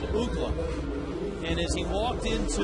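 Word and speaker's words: Uggla: the home run call the pronunciation chart that we got from Major League Baseball said UGA and as he walked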